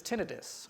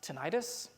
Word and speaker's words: tinnitus: of us, which is tinnitus, or I've also heard it pronounced tinnitus, tomato. Even the experts don't seem to agree on how to pronounce it. I've heard it both ways.